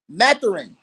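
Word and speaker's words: Mathurin: Matarine.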